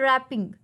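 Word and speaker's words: wrapping: रैपिंग, देखें यहाँ पर डब्ल्यू था लेकिन हम इसे क्या पढ़ते हैं, रैपिंग। तो कौन सा वर्ड हमने मिस किया है, डब्ल्यू। तो साइलेंट लेटर कौन सा हुआ, रैपिंग।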